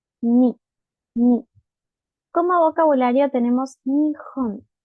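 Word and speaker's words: 日本: ni como vocabulario tenemos nión nión Japón Recuerden que la h en el japonés suena como una j y también les dejo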